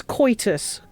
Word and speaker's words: coitus: So no, it's coitus. Koi.